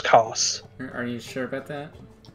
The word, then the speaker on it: Kos: Isn't it pronounced Chaos? No, it's Kos.